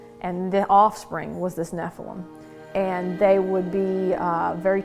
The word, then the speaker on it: Nephilim: Some people pronounce it Nephilim, I say Nephilim.